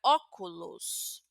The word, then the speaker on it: óculos: Por ejemplo, la palabra, vamos a ver la la palabra óculus. Óculus. Tenemos una o abierta y óculos es gafas en castellano.